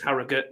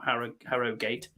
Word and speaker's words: Harrogate: Harrogate quite well and I said it right Harrogate not Harrogate sorry Betty's tea rooms